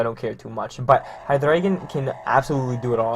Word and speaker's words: Hydreigon: So next up here, I told you guys I was going to be getting Hydreigon, and before I get comments about it, yes, that is how you pronounce it.